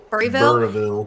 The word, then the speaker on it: Burrillville: Burryville.